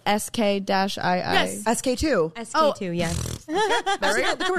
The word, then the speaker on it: SK-II: My favorite, I actually don't know how to pronounce this brand. You know, like SK-II?